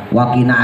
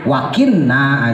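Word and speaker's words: وَقِنَا: Robbana atina misalnya ya, wakina adzabannar. Wakina kan kagak ada tasdidnya, sering dibaca tasdid wakinna adzabannar, padahal kagak ada tasdid.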